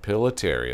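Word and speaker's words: Pillitteri: I want to say it's Pilateri, but I want to make sure I'm pronouncing it right. Pilateri, that's it.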